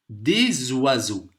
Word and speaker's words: des oiseaux: Des oiseaux. Ici, le S, il se prononce comme un Z.